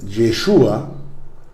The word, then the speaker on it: Yeshua: En hebreo se dice Yeshua ha-Mashiach. Yeshua ha-Mashiach. Jesús el Mesías. Yeshua se escribe Y-E-S-H-U-A.